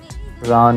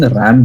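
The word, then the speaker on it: Raan: Ran, yeah. Leg piece of the lamb. Yeah. So the guy in Bangalore, the waiter who was there with us, he didn't pronounce Ran properly. He was saying ram biryani.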